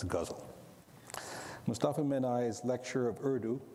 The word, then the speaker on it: ghazal: the poetic form that I used to call gazal but now know better and pronounce guzzle Mustafa mani's lecture of